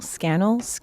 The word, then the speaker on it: Scannell: Scannell? Scannell rhymes with channel.